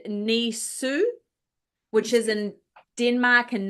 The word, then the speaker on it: Nisse: These are the Scandinavian, and you say this Nisse, which is said Nisu, which is in Denmark and Norway, and Tomte, which is said Tomtu in Sweden.